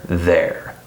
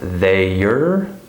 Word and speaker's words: they're: So this word is not pronounced they-er or they are, it's just there, okay?